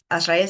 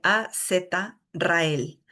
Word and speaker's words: Azrael: Azrael se escribe A-Z-Rael. Azrael.